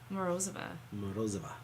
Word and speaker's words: Morozova: Morozova.